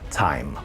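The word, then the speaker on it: Thyme: months or so is time plus from bastel instruments which is spelled like the herb as in Parsley Sage Rosemary and time plus anyway this is a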